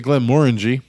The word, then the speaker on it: Glenmorangie: feature the glimmeraji original tenure make sure you pronounce it correctly more energy the glenmorangie original tenure on our first episode episode 23